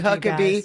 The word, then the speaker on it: Huckeba: Thank you, Stacy Huckabe. We might even talk about why your name is spelled Huckaba and it's pronounced Huckabe.